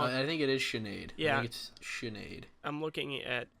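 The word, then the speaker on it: Sinéad: wait wait I'm wrong I think it is Sinead yeah Sinead I'm looking at the Wikipedia pronunciation and it's Sinead yeah with Nate all capitalized Irishmen every say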